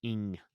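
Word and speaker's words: Eng: And that's Kim Ing. I'm assuming E-N-G is pronounced Ing, but Kim Ing.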